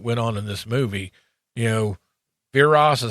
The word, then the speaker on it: Viras: Viras is how you say it.